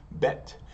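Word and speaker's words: בית: one thing I forgot remember bet SL vet if there's a dages or a dot in the middle it's going to be pronounced with the B sound but bet and if there's no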